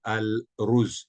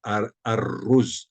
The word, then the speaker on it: arroz: A a la z lo mismo pasa con la palabra arroz no digo al rus digo arroz arroz eso pasa con todas